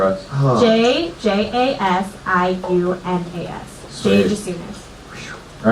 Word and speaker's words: Jasiunas: Just soon as the I is silent. Spelled out for us. Oh. JJASIUNAS. Sweet. Jay Jasunas.